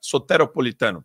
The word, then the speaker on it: soteropolitano: que daria liga Superman O correto é sotera soteropolitano perdão perdão Sotero Zé Salvador em grego grande abraço Obrigado Eric